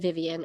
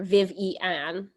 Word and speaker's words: Vivian: Sorry, I said Vivian earlier. Vivian is the way you pronounce it.